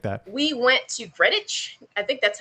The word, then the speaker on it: Greenwich: We went to Greenwich. I think that's how you say it. It's spelled like green and witch, but they say Greenwich.